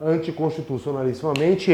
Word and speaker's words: anticonstitucionalissimamente: nas últimas 3 sílabas e a palavra o anti constitucionalissimamente é oxítona a sílaba tônica anticonstitucionalissimamente tudo bem aqui aí esse conceito